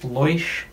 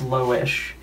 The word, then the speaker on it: Loish: books by loish l-o-i-s-h i really hope it's not pronounced leuch but i think it's low-ish and these were funded